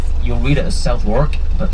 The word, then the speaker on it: Southwark: We're about to come into the area of major verbiage, the area known as Southwark. You'll read it as Southwark, but pronounced Southwark, and it's the area of Billy Shakespeare.